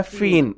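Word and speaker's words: feign: अगला मेरा वर्ड है फीन, FEIZ, इसमें साइलेंट रहता है, फीन इसको बोलते हैं।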